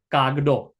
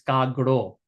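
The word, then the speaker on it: કાગડો: Kaguro is not pronounced gago. Kag. No, it's not gago. It's gaguro. Kaguro.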